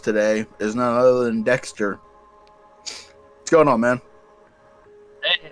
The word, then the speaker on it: Deqster: and our guest today is none other than dexter what's going on man hey how's it going i need to be here it is pronounced dexter guys we're not he's not he's not the quester he's not taking our he's not taking the